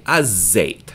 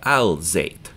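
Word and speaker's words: الزيت: So zait is oil, and we're pronouncing it up in the front of our mouth without moving our lips. So we say azait, not al-zait.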